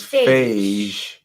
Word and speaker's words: Phage: A soft G means Phage.